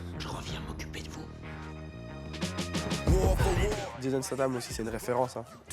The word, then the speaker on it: Jason Statham: Et quand tu t'as demandé ton acteur préféré, c'est Jason Statham. Ouais. Alors, je l'ai très mal prononcé, donc je vais le refaire. C'est Jason Statham.